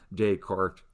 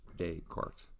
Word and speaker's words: Descartes: descartes or descartes no there's no accent on the e susanna so it's the former it's french and when you see